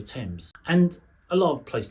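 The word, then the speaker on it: Thames: You just know it's not the river themes unless you're an idiot of course is the river temps.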